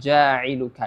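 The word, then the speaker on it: جَاعِلُكَ: du harakat kita lanjut kalimat jailuka ya jailuka di sini ada Mad thii lagi jauka setelah huruf Jim ya di huruf Jim itu ada mad thii Ya yang panjangnya wajib dua harakat tidak boleh kurang tidak boleh lebih juga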